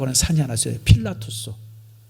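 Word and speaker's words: Pilatus: 호수 옆에 산이 빌라투스라고 하는 산이 하나 있어요. 필라투스. 그 필라투스가 뭐냐면 빌라도가 거기에 와서 자살을 했어요. 그래서 그 산 이름이 필라투스예요. 몰랐어요? 그래서 그 필라투스가 빌라도라는 뜻이에요. 빌라도의 그 라틴어식 발음이 필라투스거든요.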